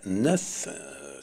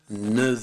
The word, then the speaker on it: neuf: Но есть один случай, два случая, когда neuf, числительное neuf, в конце мы имеем звук «ф», он будет произноситься в сцеплении со словом «эр» часы, как звук «в», для удобства произношения.